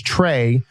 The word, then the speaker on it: Tres: Also on the line is Tres III. Trace. Try to teach Siri to call Tres. Good luck. His name is Trey, but in Texas, they spell that Tres.